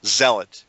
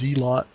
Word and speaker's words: Zealot: you say it Zealot I always thought it was zot it's May it may have two pronunciations I'll check the dictionary by the way it's Zealot that's how Tom also says it I'm like dude Tom it's Zealot dude what it's Zealot yeah not zot I'll take your word